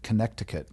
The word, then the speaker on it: Connecticut: ChatGPT believed to have played role in Connecticut, which is also sometimes said Connecticut. That's how you can remember how to spell it.